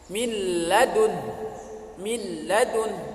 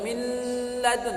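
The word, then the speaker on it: مِن لَّدُن: Cara dibacanya contohnya misalnya min ladun, bukan min ladun, salah itu.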